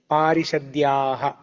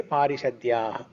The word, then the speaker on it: पारिषद्याः: So when we are reciting, we don't pronounce the visarga like parishadyaha. We don't have to say that parishadya. Okay. If you are saying that word alone, then you have to say parishadyaha.